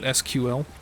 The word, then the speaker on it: SQL: But you're only allowed in if you pronounce it SQL.